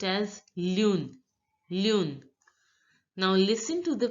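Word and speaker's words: lune: in French Yoon Yoon so so moon is pronounced as Lun LUN now listen to the pronunciation of the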